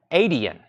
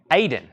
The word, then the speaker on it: Aiden: Aiden. Aiden. Sorry. Aiden? $15. If I'm still not pronouncing that, you might want to give me the phonics. Aiden. I'm putting another extra syllable in there.